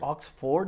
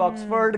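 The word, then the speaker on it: Oxford: ऑक्सफोर्ड गलत पढ़ रहे हो आप, ऑक्सफोर्ड कह लो, क्या हर्ज क्या है?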